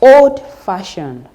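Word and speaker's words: old-fashioned: on the second word take for instance we have oldfashioned the stress is on Far old fashioned the stress is on far in that particular word in that particular adjective let's look at more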